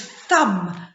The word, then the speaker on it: thumb: Okay, and the last word is thumb. The thumb has a silent B at the end. You have to put the B in, but you do not say it.